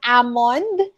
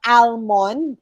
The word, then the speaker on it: almond: and then you have ammond it's not almond it's ammon only um do not pronounce ari do not pronounce the letter l ammon silent letter l